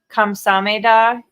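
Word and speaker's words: 감사합니다: Well, Good it reminds me of in Korea, kamsameda is thank you, but they'll be like kamsameda, and it's just they just don't pronounce part of it. You Yeah. could say, Kamsada.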